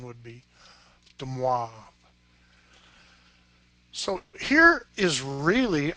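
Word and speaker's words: de Moivre: Although Ish and I grew up near Chicago, we might call him Demoivre there, but I believe he was French, and the correct pronunciation would be Demoivre.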